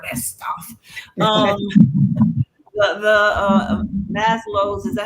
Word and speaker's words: Maslow: the the uh mass loads.